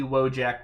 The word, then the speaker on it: Wojek: I did also look up the pronunciation, and this is actually Wojek, which is apparently just a magic word.